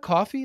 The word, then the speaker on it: Coffey: uh yeah with coffee I'm like my name's uh coffe like the drink but spelled different because it's spelled ey but um I also forget